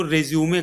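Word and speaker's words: résumé: हैं, कंपनी वालों को, तो इसको हम जो प्रोनाउंसिएशन है वो रेज्यूमे करते हैं। क्या करते हैं? रेज्यूमे। तो रेज्यूमे आपको प्रोनाउंसिएशन इसका करना है।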